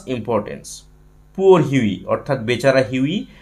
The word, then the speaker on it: Hughie: এখানে H Yuji H আই এটাকে আমরা হিউই বলে উচ্চারণ করব।